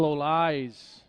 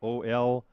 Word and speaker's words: Olais: Howdiel Olais.